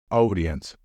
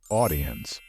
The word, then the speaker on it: audience: never pronounce it as audience remember that the combination of the letters a and u is often pronounced as o so the right pronunciation of this word is audience the same goes for